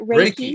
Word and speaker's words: Reiki: I pronounce it Reiki.